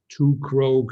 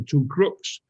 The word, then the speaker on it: Krogh: And we called it Krogh, so our surname. Mm-hmm. That was very, very nice until I started exporting to the US, because then suddenly it was the Two Crooks. Pronounced in America.